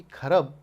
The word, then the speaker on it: खरब: करोड़, अरब, 10 अरब, खरब, 10 खरब। मजे की बात यह है कि खरब मैं प्रोनाउंस भले ही कर रहा हूँ, स्पेलिंग आप लिटरली पढ़ेंगे तो आप पढ़ पाएंगे खराब, यानी कि इतना धन